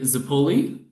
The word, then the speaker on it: Zappulli: I'm your host, Tyler McNabb, and I have a special guest with us today, Zappulli. And please correct me if I mispronounce that in any You way.